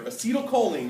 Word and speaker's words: acetylcholine: neurotransmitter it's written here it's on your paper acetylcholine is how you say it acetylcholine I'll abbreviate